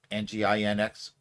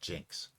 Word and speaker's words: nginx: I'm just going to presume the first N is silent and call it Jinx. No, that's not correct. It's Nginx. Oh, it's Nginx? Yeah, that makes sense. Thing. Yeah, it's supposed to be engine.